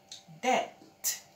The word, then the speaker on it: debt: Debt. So you don't sound the B.